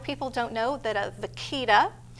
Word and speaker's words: vaquita: Also, another conservation effort you guys have going on is the vaquito. Am I pronouncing that right? Vaquita. Vaquita. Vaquita.